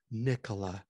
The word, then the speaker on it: Nikola: In other words, Nikola, if you say it correctly, Nikola, it just rolls off your tongue, and it's just a beautiful thing.